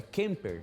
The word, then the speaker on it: Kemper: Eu perguntei há pouco para ela assim, como é que é a pronúncia do teu sobrenome? E ela falou, é Kemper.